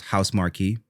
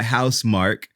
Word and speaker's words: Housemarque: by house mark and i'm mad about how they pronounce their name because it looks like it should be announced pronounced house marquee and that's how i was saying it but it was developed by house mark and published by sony